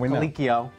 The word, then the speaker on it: Colicchio: Production team, let me know it's pronounced Colicchio.